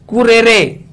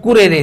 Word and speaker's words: currere: CURRERE, इसको बोले RRERE, कुरेरे, आप ऐसे बोल सकते हो इसको उच्चारण में कुरेरे, CURRE कुरेरे। और इसका मतलब होता है दौड़ का मैदान, दौड़ का मैदान।